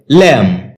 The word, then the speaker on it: lamb: আমরা ল্যাম বলে থাকি যার সঠিক উচ্চারণ হচ্ছে ল্যাম যেখানে বি লেটারটি উজ থাকবে শব্দটি বাক্যে নাউন হিসেবে